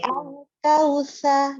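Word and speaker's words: الكوثر: Al-Kautsar. Sa-nya kurang terbuka mulutnya lagi. Al-Kautsar. Nah, jadi sa-nya kebuka. Tunggu sebentar. Buka. Jadi al-kautsar, depannya sa dulu, baru ro-nya masuk. Al-kautsar.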